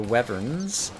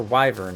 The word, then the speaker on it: wyvern: defend against some of the wevers who are flying up there or wyvern I think is actually the correct pronunciation while I'm at it